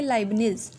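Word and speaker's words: Leibniz: Next is 1671 लाइब्निज, इसको हम कैसे प्रोनाउंसिएट करेंगे, लाइब्निज कैलकुलेटर।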